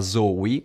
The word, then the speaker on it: La Zowi: Poi attacca subito la Zoe, non con la Z come la pronunciavo prima, che ha fatto il suo.